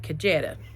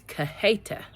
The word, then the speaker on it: Cajeta: say things wrong, and I was calling it Cajeta. And I knew it was wrong, but I didn't know exactly how to say it. So I looked it up. It's Cajeta. Cajeta, I believe.